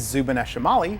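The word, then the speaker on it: Zubeneschamali: you all about them the upper Claw is zuban shimali which actually means Northern claw and the lower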